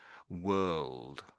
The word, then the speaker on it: world: So the the O really to my mind or the O and the R together. Sort of like an sound really.